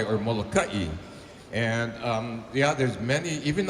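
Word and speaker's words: Molokaʻi: We pronounce it Molokai because it means churning waters.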